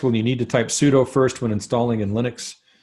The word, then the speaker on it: sudo: need to do a sudo we're not going to cover that some people pronounce it sudo just so you know because it really is a do command with superuser privileges so if you don't